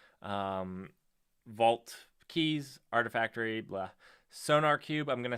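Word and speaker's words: SonarQube: cube sonar cube okay i i i think it's sonar cube uh is how you pronounce that it it uses a q instead of a k threw me off but um oppa is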